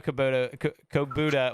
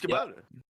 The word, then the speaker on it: Kubota: It's Kubota. Since you guys play, like the little orange tractors they run around? Kubota.